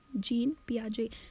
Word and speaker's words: Jean Piaget: ठीक है, अच्छा, तो ये थ्योरी दी है जीन पियाजे ने, JEAN PIAGET, इसकी से प्रोनाउंसिएशन है जीन पियाजे।